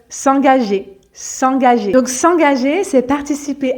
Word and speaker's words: s'engager: dans les situations pratiques s'engager s'engager donc le premier g se prononce gu parce qu'il est suivi de a donc G comme dans garçon et ensuite le deuxème